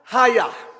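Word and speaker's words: chayah: lexicon is h2421 and c-h-a-y-a-h is pronounced hayah so what i need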